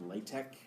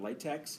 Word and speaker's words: LaTeX: in a language called Latch and don't let Dr H tell you otherwise that's how you pronounce it latch not latex he doesn't say that but he says latch nobody says latch latch